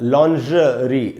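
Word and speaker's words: lingerie: इसमें जो ज है वो जैसे आप श बोलते हैं ना, जैसे शंकर में जो श होता है, शिव में जो श होता है, वो वाला श जैसे बोलते हैं, वो श बोलते वक्त मुंह के अंदर जो जीभ की स्थिति होती है, उसी स्थिति में जीभ को लाके आपको ज बोलना है। आपको मन में ये सोचना है कि मैं श बोल रहा हूँ और आपको बोलना है ज, लॉन्जरी।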